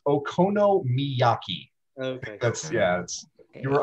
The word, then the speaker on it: okonomiyaki: you say that again okinaki that's not enough syllables it's okonomiyaki okay that's yes you